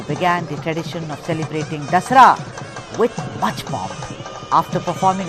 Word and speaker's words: Dasara: You pronounce it as Dashera, na? We pronounce it as Dasara.